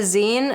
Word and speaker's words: zine: And sometimes people mispronounce it as Z, but if you just think of it as cutting the word magazine short, that's what it is.